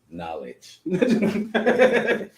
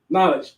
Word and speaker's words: knowledge: he's not doing nothing knowledge knowledge once again you don't even pronounce Decay it was just because